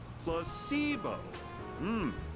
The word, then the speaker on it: placebo: Repeat after me. Placebo, the stress is on the middle. Oh my lord. Very good. Placebo.